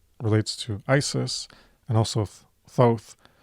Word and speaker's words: Thoth: as wisdom relates to Thoth as wisdom and magic relates to Isis and also Thoth. I always say Thoth because that's the way it looks, but proper pronunciation is Thoth, I think.